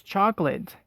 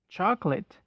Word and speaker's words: chocolate: americans pronounce it it's chocolate just drop the second syllable but not completely and then pronounce late as lit chocolate the second food word